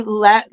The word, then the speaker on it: Lehman: Ari, and I could be saying his name wrong. Lemon. He plays Jason. Ari Lehman.